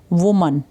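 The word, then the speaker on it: women: अगर तो इसमें ए वर्ड लगा है, WOMAN, तो प्रोनाउंसिएशन होगी वुमन। अगर इसमें ई लग जाए तो प्रोनाउंसिएशन बन जाती है विमेन।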